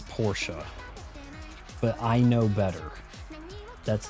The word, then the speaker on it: Porsche: It is pronounced Porsche. 99% of Americans, even the dealers, will call it Porsche. It is Porsche.